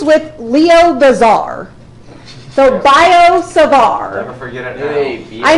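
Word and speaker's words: Biot–Savart: it's two French names so they have T's at the end but you don't say them sard law okay so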